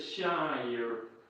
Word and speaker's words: Shire: Shire. I love that's how people just talk to me now. So this is how you pronounce my name. You need to say Shire.